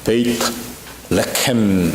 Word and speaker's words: 베들레헴: 아 확실하게 이렇게 찍었습니다 베들레헴 하게 되면은 아 원래 발음대로 하면은 베이트 레 이렇게 해야 됩니다 베이트 하게 되면은 바이라고 하는 히브리 말이 합성될 때 베이트로 바뀌어서 베이트 레 하게 되면 떡이라는 뜻입니다 레 그래서 오늘 아 이호광